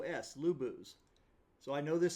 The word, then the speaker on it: Luboos: see it obviously on the video but I'll spell it out l u Bo o oos lubos so I know this sounds dorky you know